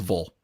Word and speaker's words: ville: Like you said, but like you pronounced "vil" correctly, which was "vol." Yes, anything that ends in "vil" down here is "vol."